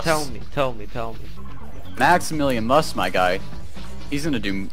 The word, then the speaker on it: MaximilianMus: What about a MaximilianMus? A Maximilian? Mus. MaximilianMus. Yeah, what about that? Holy heckle freckle, don't let me tell you about a MaximilianMus. Tell me. MaximilianMus, my guy, he's gonna do lots in his life.